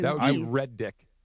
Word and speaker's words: Redick: people spell it with, they misspell it and spell it with 2 That would be D's. Red Dick.